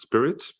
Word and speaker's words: SPIRIT: I believe, Jeff, it was consensus view that it's pronounced SPIRIT, to be the responsible